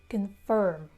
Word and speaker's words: confirm: So it's confirm. Like report, confirm, the stress is on the last syllable.